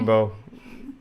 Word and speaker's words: Beau: you do thank you beau i like him his bow and arrow yes if that's how you pronounce it i pronounce it thank you for saying my name right he says yes um